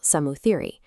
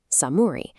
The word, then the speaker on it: Samuthiri: He took the title Samuthiri, shortened it to its casual pronunciation Samuri, and asked if the Samuri would gore him.